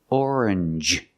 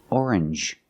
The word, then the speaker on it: orange: Usually when you see NGE, it makes the NG sound, like orange or exchange. You make the N sound, not the nasal sound, just and the J, like juice. J.